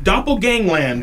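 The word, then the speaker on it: Doppelgangland: pronouncing her name I'm going to have trouble pronouncing this D Gangland yep Doppel Gangland there we go at 10 p.m.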